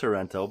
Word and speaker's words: Sorento: be like hey dummy she's only got one are still Sorento it's still pronounced Sorento but that's why you've